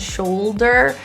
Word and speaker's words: shoulder: The L's in these two words, cold and shoulder, the issue tends to be the tongue tip not fully touching the roof for most people. So make sure that you feel your tongue fully touch the palate or your alveolar ridge, which is that bumpy place right behind your top teeth.